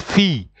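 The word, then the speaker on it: fille: there uh follows an eye you have to pronounce them like a y so he says it's the same thing with fee fee in French is written f i double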